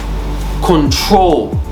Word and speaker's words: control: on r e d control okay control okay the troll is where the emphasis is is where the I stress so you you can't